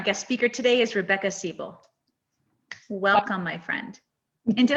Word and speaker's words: Seibel: That's how you say it in German, Seibel.